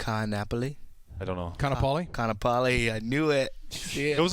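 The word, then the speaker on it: Kaanapali: Kanapali.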